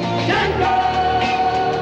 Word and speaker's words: Django: The D is silent. Django!